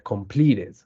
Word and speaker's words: completed: t y una d Exacto cuando hay una t o una d como última consonante Cuál es un ejemplo de estas con pliets con plits en pasado se pronuncia completed el mismo caso para